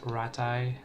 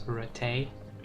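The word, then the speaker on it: Rataje: Some people pronounce this as Ratai, some people pronounce this as Ratay, and by that I mean, you know, NPCs.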